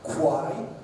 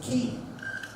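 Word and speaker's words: quay: And do we pronounce this as Q? No. Quai? No. It's pronounced as key.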